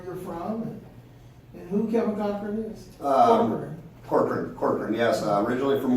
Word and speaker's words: Corkrean: Corkrean.